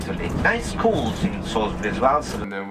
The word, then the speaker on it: Salisbury: Salisbury. Salisbury. That's how they like to pronounce it.